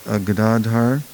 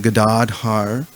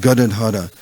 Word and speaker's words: Gadadhar: Actually, it's Shri Krishna Chaitanya Prabhu Nityananda Shri Advaita Gadadhar Shivasadi Gaura Bhaktavinda. It's not Gadadhara. It's a long A. The second second syllable is long.